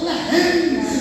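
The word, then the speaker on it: לחם: A palavra pão no hebraico, irmão, significa e se pronuncia lehem, que vem de semente, de grãos.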